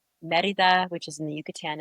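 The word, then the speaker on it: Mérida: Merida. Merida. It's a capital of the Yucatan. Can you spell that for me?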